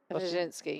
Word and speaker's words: Wyszynski: It looks really scary because there's so many letters in it, but it turns into one syllable. It's very similar to when you do Wimbledon, and there's a lot of Rinskis and Djokovic, and they're actually very simple. They're said exactly how they look. Yeah. Which for me, it's just a lot of letters for one syllable.